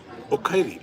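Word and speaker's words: おかえり: The power plant says the pronunciation of the coffee shop is the Japanese word for welcome home. Okaeri.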